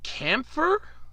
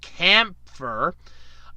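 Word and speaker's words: Kämpfer: never heard of called camphor C a.m. P fer and think it's a long a so camphor is getting an English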